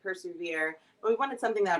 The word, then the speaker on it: PRSVR: PRSVR it stands for persevere. So, you know, Okay. you can pronounce it persevere, but we wanted something that would resonate a little bit deeper and a Okay.